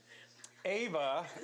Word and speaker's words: Eva: Also, AVCA All-American First Team NAIA Player of the Year, Eva. Oh, it's spelled EVA. Sorry. That's Ava.